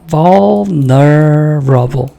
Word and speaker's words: vulnerable: vulnerable. 근데 거의 그 L 발음이 잘 안 들려요.